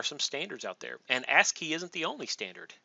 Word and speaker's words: ASCII: on your keyboard uh ask key is how you pronounce that ASCII that stands for